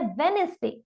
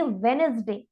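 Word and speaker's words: Wednesday: Next word is Zomato, next is वेडनेसडे। Exactly, ये वेडनेसडे नहीं है, ये है वेडनेसडे। साउंड ऑफ डी यहाँ पर साइलेंट रहने वाला है, इसीलिए हम इसे रीड करेंगे वेडनेसडे।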